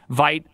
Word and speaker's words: Vite: Vite, I still struggle with both pronouncing it the correct way and Vite. Actually having the library version of it. French people across the world are like, that's... I know. You need to pronounce it with its endonym. Vite. That's not even French.